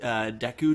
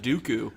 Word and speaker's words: Deku: always call the great Deku Tree I think that's the proper way to say I always called it Dooku yeah like cuz I